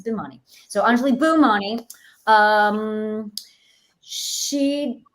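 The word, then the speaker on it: Bhimani: funny funnily uh actually a lot of people think my name is pronounced that way but it's not it's bimani so anjali boomani um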